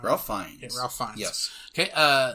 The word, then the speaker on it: Ralph Fiennes: Playing Ramses II was Ralph Fiennes. I hope I said that right. Ralph Fiennes.